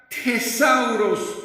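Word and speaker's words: θησαυρός: En el griego, la palabra griega que utiliza aquí el escritor del Evangelio de Mateo se pronuncia tesauros, que es casi lo mismo, lo cual se traduce como depósito con riquezas.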